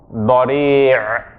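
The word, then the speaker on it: بديع: So this one, body. Say after me. Body. Bad, ra, ya, ayn. Body. Right, with the strangling sound at the end.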